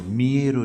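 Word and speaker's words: Millet: বিখ্যাত চিত্রকর ইমপ্রেশনিস্ট চিত্রকর মেয়েরও জীবনীকার এমই এল এলইটি ফরাসি উচ্চারণে মিয়ে মিয়ের মিলেট নয় মিয়ের জীবনীকার কাজেই সমস্ত সমন্বয়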